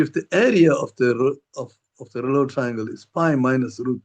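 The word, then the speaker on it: Reuleaux: It's a French word. You don't pronounce the OUX, it's rouleau triangles.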